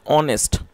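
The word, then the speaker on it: honest: होता है ईमानदार और जो इसमें एच है वह साइलेंट है इस वजह से हमें एच को प्रोनाउंस नहीं करना होता है तो इसको पढ़ते हैं ऑनेस्ट तो क्या मतलब हुआ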